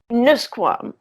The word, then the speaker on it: Nusquam: But and by the way, pronounce it Nusquam. Nusquam.